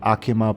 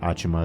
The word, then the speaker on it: Achima: I forgot that the English pronunciation is a bit different. I say it Akima, but you can say it Achima. It doesn't necessarily matter.